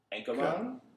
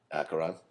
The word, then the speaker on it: Acheron: Ankaron. Acheron. Acheron, sorry. Gosh T, my Brooklynism. This band, I cannot pronounce the name.